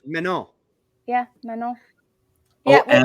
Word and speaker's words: Manon: It's Manon. pronounced Manon.